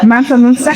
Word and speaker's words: Mansa Musa: We have, I'm going to get the name wrong, I always get his name wrong. Is it Musa Mansa? Yes, Musa. Mansa Musa?